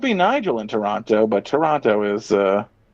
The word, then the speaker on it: Toronto: Toronto rhymes with Keanu.